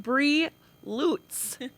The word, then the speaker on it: Bri Lutz: We're here with Bree Lutz, as I've learned to pronounce it.